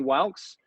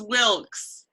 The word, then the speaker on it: Wilkes: our presenter is wax I hope I pronounce your last name correctly how what is the correct pronunciation it's Wilkes Wilkes okay Wilkes it was